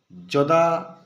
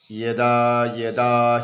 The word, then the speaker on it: যদা: ইয়া উচ্চারণ যেমন দেখুন উদাহরণ স্বরূপ যদা যদাহি ধর্মস্য গ্লানির ভবতি ভারত। আমরা এভাবে না বলে যদি এইভাবে বলি ইদা হি ধরমস গ্লানের ভবতি ভারত এইযে দেখুন এখানে